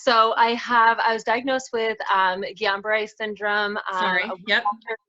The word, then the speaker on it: Guillain-Barré: Paralyzed, but you have Julian-Barr syndrome, right? Yes, yes. So I was diagnosed with Guillain-Barré syndrome.